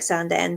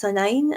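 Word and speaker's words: Sandend: This looks like Sanden, but it's Sanine.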